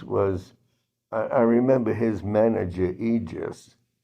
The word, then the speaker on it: Egis: But in any event, his manager, Aegis, I guess you would pronounce it, Egis, went over to Teofimo's corner and said, "Why do you hate the Loma?